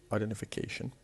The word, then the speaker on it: identification: We have identification, and the word identification is composed of 6 different syllables, and the one that has the stress is the one before the last, the 5th syllable, identification.